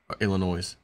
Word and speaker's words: Illinois: people are fleeing Illinois Illinois yeah because it's full of noise even though the S is silent they are fle fleeing